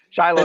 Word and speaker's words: Shiloh: Shiloh National Park. That's the American pronunciation versus the Hebrew pronunciation.